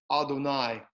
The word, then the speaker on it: Adonai: Okay, now here for study's purpose, I'm pronouncing the name Hashem, right? Now when we're making the blessing itself, we're going to pronounce it Adonai, which means Lord, right?